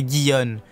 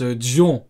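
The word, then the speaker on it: Gion: La première, c'est Guion, dit Momo. Ah, Guion. Moi, je prononce Dion. Mais effectivement, il faudrait peut-être dire Guion. Moi, je dis Dion, parce que c'est G-I.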